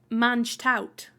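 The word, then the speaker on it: mangetout: Yeah, which is spelt like mange tout. But I believe it's pronounced mange tout. It's basically French.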